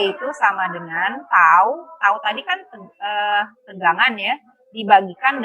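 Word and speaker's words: τ: Ini kita bacanya tau ya.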